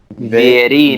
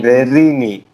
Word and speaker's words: Vierini: Yeah, it pronounces like an Italian name. It's Vierini. Vierini. Verini.